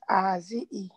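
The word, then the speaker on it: هذه: It is pronounced Azi, but the alif is omitted in writing.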